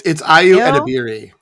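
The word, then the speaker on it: Ayo Edebiri: And then I've never actually had to pronounce her name. It's Ayu Edebiri.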